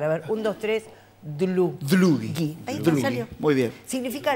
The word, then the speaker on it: Dlugi: yo era, y encima tenía el apellido impronunciable, que es polaco, es Dulli. Hay que practicar, a ver, un, dos, tres... Dlugi.